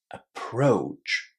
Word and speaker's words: approach: Connect the O and U together and say O just as in go or no.